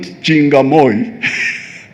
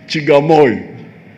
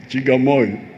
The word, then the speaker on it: Chigamoy: It is not Chingamoy. It is Chigamoy. Chigamoy.